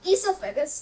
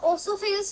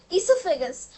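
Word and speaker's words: oesophagus: तो इससोफेगस। ठीक है? वो ओसोफेगस नहीं होता है। उसका ओ जो है वो साइलेंट होता है। वो है इससोफेगस। फूड जो है वह माउथ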